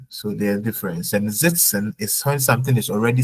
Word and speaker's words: sitzen: Then sitzen und sitzen. So please pronunciation E wie Ida. Sitzen und setzen.